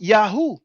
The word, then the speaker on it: Yahweh: but that it was most likely pronounced Yahoo but we don't say Yahoo we say Yahweh you know um yeah